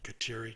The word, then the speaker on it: Kateri: initials on the top Kateri Tekakwitha kateri is the iroquois pronunciation of catherine jews baptized catherine and